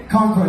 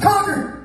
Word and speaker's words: Concord: Concord, that's not how we say it. We don't pronounce it that way. We're not that sophisticated. Okay? Say it like me, like you've done meth at least a few times. Concord!